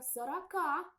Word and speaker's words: Сорока: И птица эта должна была называться сорока, ударение на последний слог. Но с течением времени проходили годы, столетия, и это название сорока трансформировалось в название сорока.